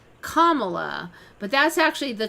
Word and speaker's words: Kamala: It's not Carmela. It says it's Kamala. Has been telling for years. Harris has been telling people her name is pronounced Kamala, like the punctuation mark, Kamala.